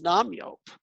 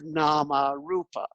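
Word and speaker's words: nāmarūpa: yo what the hell's nam yop that's the burmese pronunciation of nama rupa so rupa becomes yupa becomes yopa becomes yopa and nama becomes now so there's nothing but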